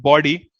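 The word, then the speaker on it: bawdy: Third word को pronounce ऐसे ही करते हैं जैसे आप बॉडी को प्रोनाउंस करोगे. तो इट इज कॉल्ड बॉडी.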